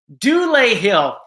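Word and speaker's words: Dulé Hill: Dule Hill.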